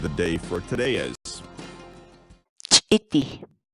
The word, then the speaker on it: Ch'iti: series videos where we teach you how to pronounce certain words in Quechua. So our word of the day for today is Ch'iti. Ch'iti. Ch'iti.